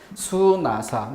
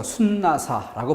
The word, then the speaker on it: 수나사: 수나사, 니은 넣어서 순나사라고 발음하지 않습니다.